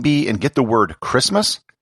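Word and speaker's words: Kiritimati: called christmas island and how do they spell christmas k-i-r-i-t-i-m-a-t-i christmas if there are any kids listening to this and if you're ever in a spelling bee and get the word christmas spell it like this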